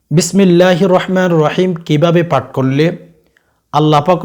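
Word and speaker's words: بسم الله الرحمن الرحيم: আমরা প্রত্যেকে জানি ভাই অনেকেই কিন্তু উচ্চারণ সহি ভাবে করতে পারে না কেননা তারা শিখে না ছোটবেলা থেকে বিসমিল্লাহির রাহমানির রাহিম এভাবে কিন্তু অনেকে তেলাওয়াত করতে পারেন না অনেকে বলে থাকেন বিসমিল্লাহির রহমানির রাহিম আস্তাগফিরুল্লাহ এভাবে তেলাওয়াত করবেন না ভাই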